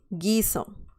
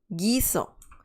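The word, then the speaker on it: guiso: some certain food dish giso dish okay so now we know that if we add the letter u like here at the end of everything right here ge okay we get those sounds perfect now let's see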